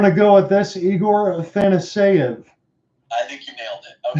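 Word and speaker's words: Afanasyev: So I'm going to go with this, Igor Athanaseyev. I think you nailed it. Okay, that's put that in etch it in stone. John, you just nailed the pronunciation. So Igor Afanaseyev with his first.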